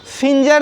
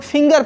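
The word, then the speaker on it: finger: सकते फीचर नहीं पढेंगे इसे हम लोग फिंगर पढेंगे हम यहां पर भी यह जो जी का उच्चारण है वह के समान है और है जो के समान नहीं हो रहा है इस तरह दोस्तों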